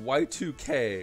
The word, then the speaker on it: YIIK: a really cool detail it is pronounced y2k which is the most